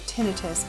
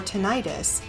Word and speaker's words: tinnitus: Tinitus or tenitis are two pronunciations that are often heard. Both are correct according to the American Tenitus Association or the ATA.